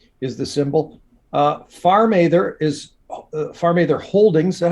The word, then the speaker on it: PharmaTher: PharmaTher is PharmaTher Holdings. Is that how you say it? PharmaTher.